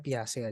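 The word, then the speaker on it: Piaget: Ini tokoh ini bacanya Piase aja, nggak usah susah-susah.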